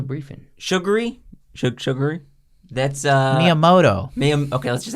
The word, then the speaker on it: Miyamoto: sugar okay I could have done that it's Miyamoto why are you throwing shade at me he's